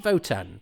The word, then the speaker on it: WOTAN: Why do they pronounce it Votan? Because it is with a W.